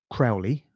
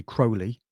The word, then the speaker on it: Crowley: His name is often mispronounced as Crowley. It's actually Crowley.